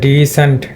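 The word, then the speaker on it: decent: যার কারণে স্টেজ পড়েছে ওপেন সিলেবলের উপরে যার কারণে এটা ডি লং ই হবে ডিসেন্ট ডিসেন্ট এরকম প্রোনাউন্সিয়েশন হবে তো এর আগে তোমাদের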